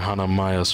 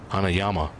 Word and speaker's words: Hanayama: Sure, but you're Hanamaya's friend, right? Hanayama. Keep saying his name wrong.